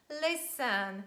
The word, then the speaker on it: listen: by e n and we have this combination s t e n and t is silent and we say listen so listen to me